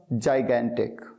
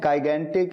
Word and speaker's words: gigantic: जाइगेंटिक, GIGANTIC, जाइगेंटिक। अच्छा, इसे कई स्टूडेंट्स गलत प्रोनाउंस कर देते हैं, गाइगेंटिक या गाइजेंटिक कह देते हैं। नहीं, जाइगेंटिक, जाइगेंटिक।